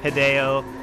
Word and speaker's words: Hideo: clever that they did the hideo that he used his name because it it rhymes with video and most people's tvs